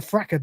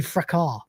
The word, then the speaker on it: fracas: There's no one I'd rather have in with me in a fracker, Dave, or fracas, or fraker. I don't know how he pronounces it. I can't remember. Technically, it should be fracas, but whatever.